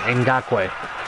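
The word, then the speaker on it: Ngakoue: and in got quake so I apologize electric pronunciation in got way first and ten handoff to Leonard fournette 19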